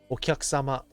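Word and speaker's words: お客様: So I don't pronounce the U in ku. It's like so small as to not be there.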